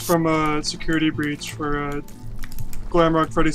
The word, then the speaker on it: Glamrock: Wait, did you say Grailmark Freddy? I said Glamrock. I butchered the word Glamrock Freddy.